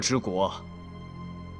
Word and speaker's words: 柘枝国: 柘枝国 The pronunciation is Zhe Zhi 此国是一个西域小国 This is a